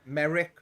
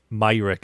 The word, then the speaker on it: Myrick: people mispronouncing my surname even you've probably had merrick uh mayrick myrick is how i pronounce it yeah um merrick and mayrick are the two especially maywreck mayrick is a is a popular one i think even i